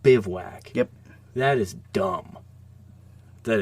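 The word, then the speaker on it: bivouac: That's pronounced bivwack.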